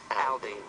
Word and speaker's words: Aldean: It's Jason Aldean. That's right. And make sure you pronounce it right, because he gets very, very upset if you mispronounce his name.